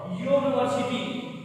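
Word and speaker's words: university: एंड वाई ए, तो मैं आपको बता दूं इसका जब प्रोनाउंसिएशन देख लीजिए आप लोग, तो क्या रहा है, यो यो यूनिवर्सिटी, यो यो आ रहा है प्रोनाउंसिएशन, यो।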